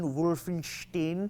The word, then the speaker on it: Wolfenstein: or Wolfenstein whatever it's just like Franken Frankenstein Wolfenstein I'm just pronounced it the way it's meant to be